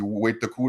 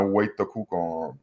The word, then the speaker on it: Wait-Toku: On dit Wait-Toku dans notre langue. Wendigo est un mot occidental. C'est vraiment Wait-Toku, la façon de le prononcer, mais pour nous autres,